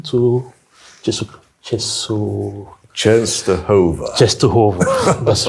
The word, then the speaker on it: Częstochowa: took the train to ches cheso chest toov chest toov that's right Nice pronunciation it's difficult sometimes to pronounce this polish